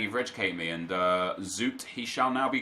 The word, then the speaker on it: Zoet: Marcus says, Zoot is pronounced as Zoot. Just thought I want you to know. Well, thank you, dude. I didn't know. I assumed it was Zoet, which, because that's how you would phonetically pronounce his name if you spelling out Zoet, Zoet.